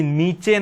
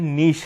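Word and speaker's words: niche: ये नीचे नहीं है, इसका प्रोनाउंसिएशन नीश है।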